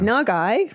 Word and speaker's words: Nagai: Um, yeah, and little Russell is just so adorable, played by, and we looked up how to pronounce his name and it was Jordan Nugai um or Nagai. Nagai, sorry, apologies, Jordan.